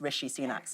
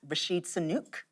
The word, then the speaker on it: Rishi Sunak: And you would think he'd pronounced Rishi Sunak's name right, because the first time around he said it was Rashid Sunak. Yeah, but this time he called him Richie, which is nearer.